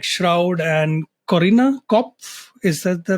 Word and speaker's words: Corinna Kopf: He's driven the growth of massive creator networks like Studio71 and Fullscreen, worked with top gaming talents like Shroud and Corinna Kopf. Is that the right pronunciation?